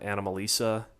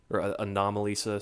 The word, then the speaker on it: Anomalisa: was right before um animal Lisa anomalisa sorry that's the pronoun the proper way to pronounce that that makes sense to